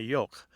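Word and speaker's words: yogh: those were the thorn the F and the yolk it's spelled y-o-g-h so that's one kind of real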